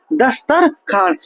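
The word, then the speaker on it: دسترخوان: खुआन जब दस्तर खुआन जब हम लिखते हैं तो लिखने में ये आता है दस्तर ख वान लेकिन इसको हम पढ़ते हैं क्या दस्तरखान यानी वाव को हम साइलेंट रखते हैं वाव को हम क्या करते हैं साइलेंट रखते हैं ठीक है क्यों इसलिए साइलेंट रखते हैं कि क्योंकि ये वाव लिखा तो जाएगा लेकिन पढ़ा नहीं जाएगा इसलिए इस वाव को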